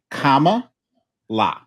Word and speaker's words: Kamala: it you know you you've got the you got the syllables right right but the emphasis is wrong and uh I think it was explained comma la I love that that's